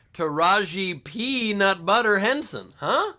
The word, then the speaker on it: Taraji: beginning well that's because it's taraji not to rahee well i apologize and